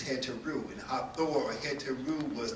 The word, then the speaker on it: Hathor: The word Hatha yoga, or the word Hatha, represents is speculated to come from an African word called Hathor, whose correct pronunciation is Heteru.